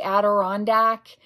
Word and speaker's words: Adirondack: Am I pronouncing that correctly? Adirondack?